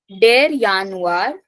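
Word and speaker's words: Januar: we have okay so D Yan as I told that the if a word is starting from J pronunciation will be of why so y yeah y so dare yanu D februar yeah so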